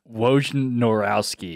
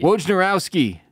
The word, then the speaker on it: Wojnarowski: Wojnarowski. Wojnarowski.